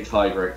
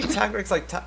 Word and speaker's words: Tigrex: I mean, you don't say Tigrex like Tigrex, so you shouldn't say Tiger like Tiger. I say Tigrex like that because it is T-I-G-R-E. It's the Spanish spelling.